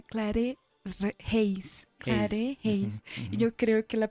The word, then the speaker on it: Claret Reis: Seguimos en tablas y tableros con Clarette. Sí, se pronuncia así. Sí, hay una broma, ¿no? Porque mi nombre es en realidad Clare Heis.